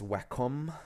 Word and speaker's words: Wacom: website or Wacom website I don't know how they pronounce in the US in English it's Wacom in the UK that's how we pronounce it um I hope